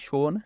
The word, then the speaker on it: সোন: সোন নদী অর্থাৎ উচ্চারণ হচ্ছে সোনে। যমুনা নদীর পরে গঙ্গার দক্ষিণ উপনদীগুলির দ্বিতীয় বৃহত্তম নদী।